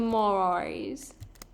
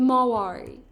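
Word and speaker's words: Marwari: See, you can get this short mane on the Maoris. The Mawari. Am I pronouncing that right?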